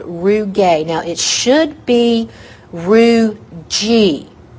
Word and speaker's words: rugae: should be Roo G it should be pronounced Roo G but so many people have said it's wrong so long that wrong is now right so for testing purposes root gay Roo gay so rugae are ridges